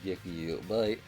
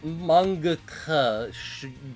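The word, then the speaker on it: Mangekyō: The Mangekyo Sharingan. Mangekyo. My mangaka Sharingan. They don't pronounce it right because they're not from Japan.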